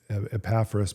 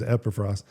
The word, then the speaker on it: Epaphras: And very likely it was during that time that a man named Epaphras, I used to call him Epaphras, but I think the correct pronunciation is Epaphras.